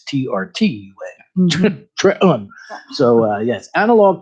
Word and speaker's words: Trenton: The actual spelling is Trenton, but the actual pronunciation is Trtun.